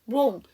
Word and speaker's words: wrong: wrong, WRONG, 잘못된, 그릇된이라는 형용사의 W가 묵음이죠.